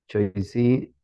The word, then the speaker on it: choisi: Todo el tiempo va a ser wa. Así vamos a pronunciar como wa. ¿De acuerdo? OI, wa. Y otra cosilla. La CH, la mayor parte del tiempo va a ser como sh. Así, nivel de pronunciación. Sh. Entonces sería ahí choix. Choisi.